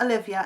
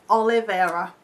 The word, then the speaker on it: Oliveira: pronouncing your name right it's not Olivia it's a liver Oliveira its muskie on YouTube